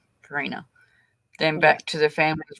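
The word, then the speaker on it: Carina: hi uh it's it's um pronoun um it's pronounced Karina Karina then back to the family's residence understood to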